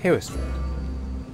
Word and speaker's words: harassment: The correct pronunciation of the word is harassment, not harassment. But, oh, who was it? It was a sports commentator that's pronouncing it as harassment, putting ass in the word.